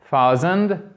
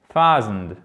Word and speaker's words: thousand: Et là, ce n'est pas thousand, c'est thousand, thousand, thousand. Accentuation, déjà, c'est la première chose à retenir sur la première syllabe.